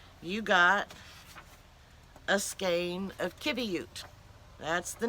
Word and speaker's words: qiviut: I was looking for Kibby ute and this is how it's spelled Qi VI ut there's not a qu so the Q has the K sound and then you have